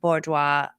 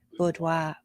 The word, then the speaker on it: boudoir: how they should find a good Bourgeois am I saying it right say it right Boudoir boudoir all right I said it wrong Boudoir and I should